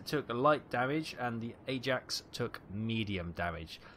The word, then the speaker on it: Ajax: The Achilles took light damage and the Ajax took medium damage. The Royal Navy pronounced that Ajax, not Ajax. Ajax is a Dutch football club.